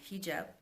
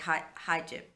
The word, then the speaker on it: hijab: I always want to say hijab, hijab, which is, it's like the reverse because it's spelled Hijab, and their I's are pronounced like E's, and their A's are pronounced like Ah. It has an Ah sound, so it's hijab, hijab.